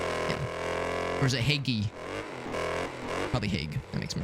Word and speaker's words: Hague: 1 syllable. Hague. Hague. Yeah. As if you're trying to say hey to somebody, but then you like have like some gunk gets stuck in your throat a little bit.